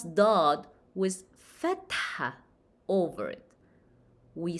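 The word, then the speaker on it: ض: Just to remind everyone, we pronounce Daad as deep, D, d, d, d. So how we pronounce Daad with fatha over it?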